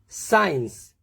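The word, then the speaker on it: science: सी के साइलेंट रहने के लिए यदि सी के बाद एस का कॉम्बिनेशन आता है तो हम सी का प्रोनाउंसिएशन नहीं करते हैं। देखते हैं, सेंट, इसमें साइंस, सीन, muscle, scissor, accent, तो इनमें डायरेक्टली एस का प्रोनाउंसिएशन हो रहा है।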